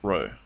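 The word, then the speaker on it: ρ: s or more generally the Greek letter P pronounced Row the test is used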